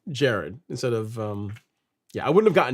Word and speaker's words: Gerard: And Gerard says, thanks, awesome, Ron. He says, Jared. Okay, so I said Gerard. See, he says, Jared is how it's said.